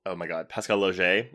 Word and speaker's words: Laugier: everyone, we're talking Martyrs, the original 2008 Pascal Laugier, is that how you say correct.